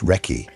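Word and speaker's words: recce: reconnaissance became Reky, pronounced Reky, which the Americans heard as a proper name and spent hours trying to identify which soldier named Ricky was being discussed.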